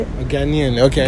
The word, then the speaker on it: Ghanaian: A Ghanaian. Okay. Ghanaian.